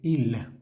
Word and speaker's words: ils: personal I l s IL se pronuncia IL a menos de que la siguiente palabra comise prov vocal vamos a hacer esa pequeña conexión eh oral que se llama la lium en este caso